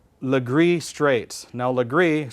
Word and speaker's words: Legris: that fit into the pack these are called Legris straights now Legris spelled L e gr is which was a